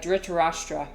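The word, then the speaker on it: Dhritarashtra: It's pronounced uh Darashtra except you roll you're supposed to roll the R, but I can't roll my Rs, unfortunately.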